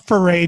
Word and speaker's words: Ferre: with four a rob for a mm-hmm Rob for a joining us and I am pronouncing that correctly right Rob yep hip hop